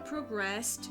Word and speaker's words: progress: and gradually the conversation progressed to the current global economic crisis. Please note that we use the same word as a noun as well, only the pronunciation is different.